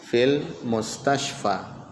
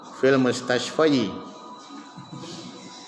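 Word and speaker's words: في المستشفى: Jadi walaupun dimasuki huruf jar, tetap dibaca apa? Fil mustashfa. Karena ada penghalang. Nah, dan ketika diucapkan itu agak berat. Makanya orang Arab kalau misalnya berat diucapkan, dibiarkan saja seperti itu. Tidak mungkin dibaca apa? Fil mustashfayi.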